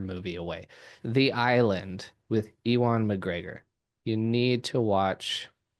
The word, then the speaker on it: Ewan: That's how they say it. McGregor. Ewan McGregor. It's actually Ewan. Look it up. I'm team Euan in the comments below.